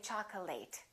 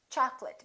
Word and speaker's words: chocolate: very common mistake chocolate a lot of my students say chocolate it's chocolate because it's a noun accurate affectionate intimate